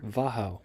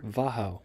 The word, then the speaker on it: Wachau: After we're going to visit nearby Wachau. I would not have pronounced that way.